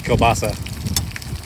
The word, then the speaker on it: kielbasa: what I'm cooking and it's kobasa spelled like k i e l b a s a I definitely